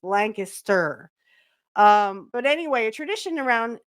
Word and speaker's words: Lancaster: No, if you want to say it here, it's Lancaster. So if you want to say it like the natives, it's Lancaster.